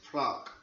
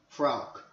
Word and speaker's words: Fraoch: It's a Scottish beer, and I think, if I'm right, it's spelt Fraoch, but the way the Scottish say it in sort of an old Gaelic tongue is Fraoch. Fraoch.